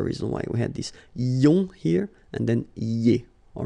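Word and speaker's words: ions: So now let's see nous, and nous goes like I-O-N-S, okay? And it should be pronounced ion. Remember, final S is not pronounced.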